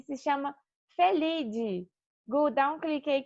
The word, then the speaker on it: Felidae: família dos gatos domésticos tá e se chama felide vou dar um clique aí que vai aparecer